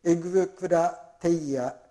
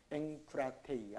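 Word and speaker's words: ἐγκράτεια: だから次エグクラテイヤと読まないでエンクラテイヤと読むんですね。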